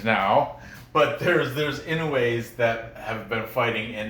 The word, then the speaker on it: Inoue: It's Inoue. Inoue. Inoue. That U-E is a way sound.